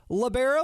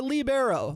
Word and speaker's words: libero: a little clarification here is it uh pronounced labero or libero Le Leo what are we talking here labero labero okay I I was in